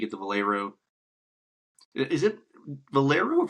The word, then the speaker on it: Valero: Is it Valero or Valero? Valero. Valero. Yep. I don't know why. I like I like to pronounce the E like an A like Valero.